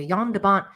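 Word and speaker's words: Jan de Bont: original movie uh Mick Rogers recalls twister director J Jan debont is that how you pronounce that Deon yand deont yond deont thank you yand debont uh having an alleged meltdown on set one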